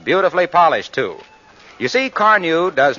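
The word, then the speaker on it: Carnu: When people ask me how I do it, I say car new is the answer.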